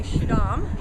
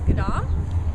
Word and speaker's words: Schiedam: okay we are in skadam we would say shadam how it's spelled but it's gadam and uh this is